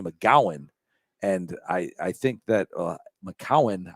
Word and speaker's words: McGowan: And I think that McGowan, I think people just don't realize there's a C instead of a G, and they mispronounce it.